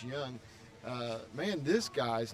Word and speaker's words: Jung: they're they're third baseman young it's spelled Jung j-u-n-g but it's pronounced young uh man this guy